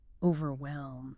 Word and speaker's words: overwhelmed: The tricky bit here is often the H. It's very soft, almost silent. Overwhelmed. Not overwhelmed. Focus on the W sound right after V.